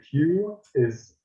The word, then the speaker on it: qi: And the Q is a hard J, like Qi.